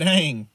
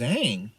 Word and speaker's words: Aang: like, from their traditional languages, like Aang to Ong. And I'm like, I watched this TV show. Like, they pronounce it Aang.